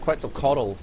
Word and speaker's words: Quetzalcoatl: How are you meant to pronounce that? Quetzalcoatl.